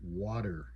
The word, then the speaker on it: water: But when we're just talking regular conversation in English, we don't say water, right? We don't pronounce that T really crisp and clear. It almost has a D sound.